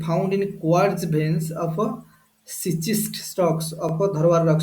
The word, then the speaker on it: schist: এটা pronounce schist করা হচ্ছে, তা স্পেলিং হচ্ছে SCHIST।